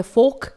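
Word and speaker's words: folk: तो जी अब देख लेते हैं अगला वर्ड जो कि है फोक। यहां पर K लेटर के पहले L लेटर आया हुआ है इसलिए यह साइलेंट रहेगा, इसे हम पढ़ेंगे फोक।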